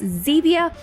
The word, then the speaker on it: Zevia: in their items and of course Zevia rhymes with stevia so that is what